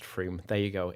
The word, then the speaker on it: Frome: Okay, Frome isn't Somerset, pronounced Froome.